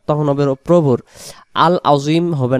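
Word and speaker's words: عظيم: সুবহানা রব্বিয়াল আযীম, আযীম, এটা আইন অক্ষর গলা চেপে হবে আযীম।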